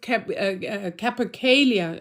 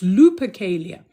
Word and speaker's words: Lupercalia: This particular feast of Capercalia, I always say it wrong, not Kappa, it's Lupercalia, is a specific feast that was done with all with all that going on.